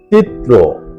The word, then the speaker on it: চিত্র: 29 মূল শব্দ চিত্র। সঠিক এবং শুদ্ধ উচ্চারণ চিত্র ত রফালা এর সাথে ঔকারন্ত উচ্চারণ চিত্র 30 মূল শব্দ জন্যে